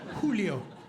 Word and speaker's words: Giulio: are like it's Julio Julio and I'm like no no it's Julio it's spelled with a G and You' think at